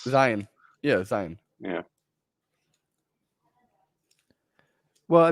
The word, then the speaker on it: Zion: is the pronunciation we use for it's Zion. You know, it's Zion.